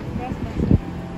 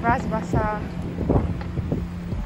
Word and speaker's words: Bras Basah: How do you pronounce it? Bras Basah. Bras Basah.